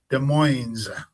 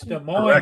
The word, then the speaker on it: Des Moines: city, and the name of the city is Des Moines. It's not Des Moines, it's Des Moines. So you pronounce it Des Moines in Gotta put the S on Washington.